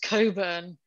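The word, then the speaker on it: Cockburn: And her boss's name was Mr. Coburn, which for the American viewers is spelled C-O-C-K-B-U-R-N.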